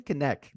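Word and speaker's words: Knecht: Okay, I know I'm going a little guard heavy right now, but dude, Dalton Connect.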